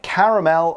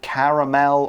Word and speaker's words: caramel: have caramel apples yeah caramel and you can pronounce it caramel or caramel both are okay caramel is sugar or